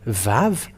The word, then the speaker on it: vav: The letter Vav is V.